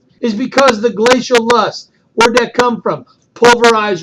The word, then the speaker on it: loess: This next word is pronounced Luss. Loess. Luss. Now, Luss is also comes from a glacier.